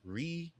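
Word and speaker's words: Riunite: It is R I U N I T E. Reunite essentially.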